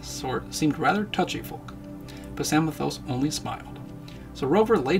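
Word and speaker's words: Psamathos: I always pronounce it samios but then the story says that he pronounces the p in front of it very precisely so I get I guess it is pthos which I sure whatever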